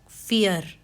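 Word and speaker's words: vier: हो रहा है और नेक्स्ट है आई ई आई ई है तो उसको हम प्रोनाउंस करेंगे ई की तरह for example फियर वी आई ई आर तो जो आई ई है यह ई की तरह प्रोनाउंस हो रहा है।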